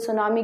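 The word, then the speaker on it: tsunami: थे तो जान लीजिए सुनामी कौन सा वर्ड है जापानीज वर्ड है इसलिए इसमें जो टी है वो साइलेंट है और आगे का जो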